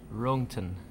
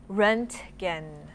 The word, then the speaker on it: Röntgen: The pronunciation is so bad there, but Röntgen.